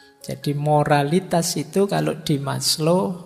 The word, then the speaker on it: Maslow: Jadi moralitas itu kalau di Maslo Abraham Maslo ini bukan Maslow membacanya. Maslo itu nama jangan dibaca mas itu yo mas lo itu rendah jadi Mas yang kelas rendah gak maslo itu lengkap.